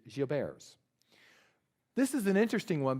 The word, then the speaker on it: Gilbert: the French population so it's not Gilbert's the current pronunciation I'm told is Geo bears this is an interesting